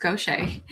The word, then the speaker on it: Gauthier: Last name looks like Gauthier, but it's pronounced Gauthier. I'm a business development manager